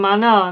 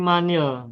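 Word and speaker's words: مَنِ: kepada alif lam sesudahnya maka bacanya bukan Manal tapi manil begitu jadi tukar Yang kalau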